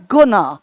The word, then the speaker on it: gonna: अगला गोइंग टू, गोइंग टू, गोइंग टू क्या बोलना है? गोना, गोना, गोना।